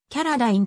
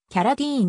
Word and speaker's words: Carradine: はジョガーさあキャラダインラストネームは日本ではキャラダインとして広く知られているが米国ではキャラディーンに近い発音で呼ばれるカリフォルニア州ハリウッド